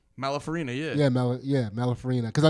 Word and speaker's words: Malafarina: Malafarina, yeah.